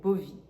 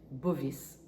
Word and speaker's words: Bovis: Dans les années 1930, un chercheur du nom de André Bovi, Bovis, si tu prononces le S, donc a inventé cet outil de radiesthésie là, cette échelle donc de taux vibratoire.